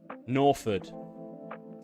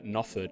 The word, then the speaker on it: Norford: I want to pronounce Norford. Yeah, I always say Nofford. I always forget the R, so I wanted to make sure I pronounced it right.